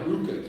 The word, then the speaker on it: RVCA: I he had a Ruka G RV it looks like RBC pronounced Ruka yeah and as soon